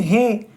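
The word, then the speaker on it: ه: வாவ் வாவ் அடுத்து ஹே ஹே இதை கொஞ்சம் உச்சரிக்கணும். இத எப்படி உச்சரிக்கலாம் அப்படின்னு கேட்டா நம்ம ஏதாவது ஒன்னு கே்கறதா இருந்தா நம்ம என்ன சொல்லுவோம் ஓஹோ அப்படின்னு சொல்லுவோம். ஹோ அப்படின்னு சொல்லி சொல்றோம்ல ஓஹோ அந்த மாதிரி ஹே ஹே தொண்டையினுடைய இறுதியில இருந்து வெளிய வரணும்னா சொல்லி பாருங்க ஓஹோ சாதாரணமா வந்துரும்.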